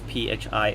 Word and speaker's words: phi: letter phi the read the pronunciation is phi phi and then we also